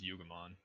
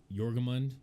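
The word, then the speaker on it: Jörmungandr: You pronounce it multiple ways, but I think the agreed upon is Yugamon. Yeah, so Yugamon, however you choose to pronounce.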